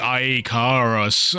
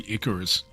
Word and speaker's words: Icarus: The ayarus. Oh god. How does he not know how to say Icorus?